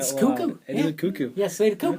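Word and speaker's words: Koekkoek: always thought it was Kokic. I have never heard it pronounced cuckoo. It is a cuckoo. Yes. Cuckoo. Cuckoo. Yeah, I remember when he got dropped. It's like, yeah, I thought it was Coco or like Ku Kick.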